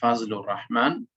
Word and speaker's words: Fazlur Rahman: us see it so this is the name fat lo rahman but they they pronounce it like fazlur rahman in english and he was born